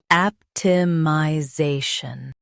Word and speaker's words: optimization: Stress the zay syllable and keep shun light.